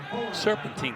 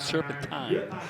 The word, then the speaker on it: serpentine: By the way, serpentine can be pronounced both serpentine and serpentine.